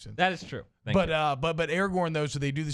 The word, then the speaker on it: Aragorn: Aragon. Master Tracker Aragorn. Yeah, I said his name wrong.